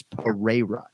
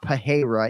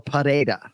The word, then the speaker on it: Pereira: do that consistently that's fine just say Alex Pereira but it's not pajera in any way shape or form and I